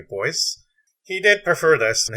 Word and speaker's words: Du Bois: cover now as to the pronunciation of his name he actually did prefer the pronunciation to boy he did prefer this